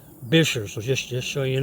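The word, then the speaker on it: Buescher: 13-mi road that connects Bassrop State Park to Bisher State Park. I know it's look looks like it's pronounced Bucher, but it's actually pronounced Bisher.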